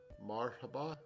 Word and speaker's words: Marhaba: are you getting the speaker we have it Marhaba well that that's in marker Montalban okay that's